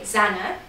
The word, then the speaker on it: Zana: So you might hear that we say Zana, although we do accept other pronunciations of it, because maybe it's not spelled the right way for that pronunciation, but you know, potato, potato, Nike, Nike, you know, we just go with the flow.